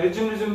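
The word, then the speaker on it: resume: काम ही दबो नाले रेज्यूमे से लागले तमे रेज्यूमे कोन होल तमे तापे रिज्यूम तम पढथियो सेदे सो रेज्यूमे Etah पढिबो नॉट रिज्यूम इट इज रेज्यूमे clear अच्छा प्रोनाउंसिएशन विषय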